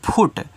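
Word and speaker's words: foot: F double O टी तो इसको पढ़ेंगे फुट तो एफ से आपका फ डबल ओ से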